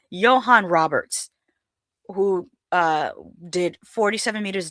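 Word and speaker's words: Johannes: Joanne Roberts from 47 Meters Down, The Strangers Pray at Night, directs from a script I'm sorry, that's probably Johan. I'm saying Joanne, and I think it's pronounced Johan. Johan Roberts, who did 47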